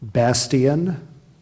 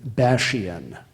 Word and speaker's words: bastion: bulwark Bastion are there any alternate pronunciations oh yes there are three of them B Bastian Bastion and bashian primary pronunciation is basan Bastion b a s